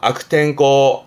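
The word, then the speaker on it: 悪天候: 악탱코, 악탱코.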